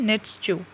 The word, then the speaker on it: Nietzsche: तो ये जब मैंने निकाली इनकी प्रोनाउंसिएशन, तो ये है नीड्स, ठीक है।